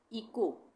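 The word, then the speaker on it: echo: इसके बाद इको, इको में भी एच साइलेंट है, ठीक है।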